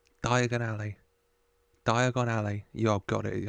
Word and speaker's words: Diagon Alley: to speak very clearly diagonally what did he say dear diagonally thank you oh he said it wrong diagonally Diagon Alley Diagon Alley you're got